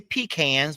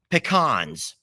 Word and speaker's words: pecans: are chocolate covered pecans now you guys may say peans but you're saying it wrong pecans they're not peans that makes no sense they're PE wait I